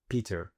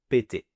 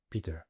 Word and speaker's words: Peter: En effet, si un Français le lit hors contexte, il risque naturellement de prononcer la dernière syllabe comme un verbe du premier groupe en français. Donc Peter peut facilement être lu comme péter, ce qui change complètement le sens et peut prêter